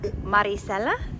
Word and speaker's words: Maricella: Maricella?